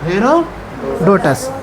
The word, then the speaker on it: हेरोडोटस: देखो क्या इसका थोड़ देख लो हेरो हेरो डोस ठीक है हेरोडोटस अब आपको ज वहा उच्चारण करने में अच्छा रहेगा इसलिए लिख दिए ठीक